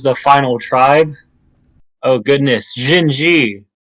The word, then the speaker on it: Xin-xi: Oh goodness, Xin-xi. Some people desperately want me to say Chin, but I refuse.